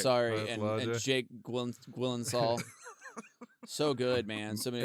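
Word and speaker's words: Gyllenhaal: You're pronouncing it wrong, by the way. It's Gwilensall.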